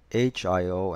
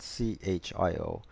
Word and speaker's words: Hiotis: we should talk about why is it HIO and not see HIO so when we decided